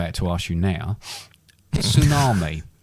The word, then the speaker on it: tsunami: wonder where the word tsunami comes from silent t yeah i'll find out